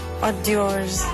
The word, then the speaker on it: hors d'oeuvres: Hors d'oeuvres.